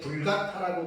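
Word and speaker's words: Vulgata: 제가 이제 다른 주석에서 보니까 불가타력이라고 하는게 있거든요 불가타역은 뭐냐면 라틴어 성경입니다 라틴어 성경 5세기 초에 라틴어로 번역된 성경을 우리는 이제 불가타라고 말하거든요 불가타라고 하는 말이 뭐냐면 돌게이트라고 도 그렇게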